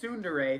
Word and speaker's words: tsundere: Tron's, as you pointed out, tsundere, thank you for telling me how to pronounce that, personality.